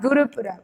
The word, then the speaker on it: Gurupurab: So the pronunciation is like Gurupurab.